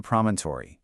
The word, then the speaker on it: promontory: It consists of four distinct syllables.